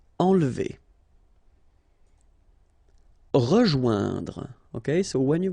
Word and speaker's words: enlever: Okay, nasal here, en, and then don't insist on this here. Enlever. Enlever.